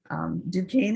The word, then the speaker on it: Duquesne: Duquesne is a French word, and it actually has